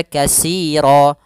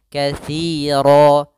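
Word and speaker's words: كثيرا: Nah, ini hati-hati jangan dibaca kasiro. Banyak sekali yang mengganti huruf tsa diganti dengan sin. ini sering terjadi yaitu bukan dibaca dengan sin jangan kasiro tapi dia katiro katsa maka di sini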